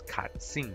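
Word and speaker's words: קצין: able to find this, which is katsin, right? And you can see the phonetic spelling katsin with a K, katsin.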